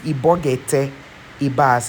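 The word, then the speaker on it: Ibok-Ete Ibas: Yes, his name is Ibogete Ibas.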